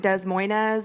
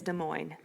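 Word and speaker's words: Des Moines: of De Mo um if you PR pronounce it desz Moz or desz Moes you can just go ahead and swipe on out right on out of this podcast cuz that is do that yeah people people pronounce de Mo Des Moes yeah Des Moes de Moes oh gosh it is De moin H in June of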